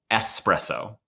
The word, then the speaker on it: espresso: I drink espresso, I would be mispronouncing espresso because strictly speaking the correct pronunciation of espresso is espresso, not espresso. There's no X there.